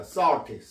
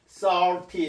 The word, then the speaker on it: salty: 자, 어떻게 발음하냐면 자, 이게 그 국제 음성 기호로는 O와 I의 중간 발음입니다. salty, salty 이렇게 하는데 자, 요것은 우리나라의 O와 I의 중간 발음에 해당하는 음가에 해당하는 게 이게 아래합니다.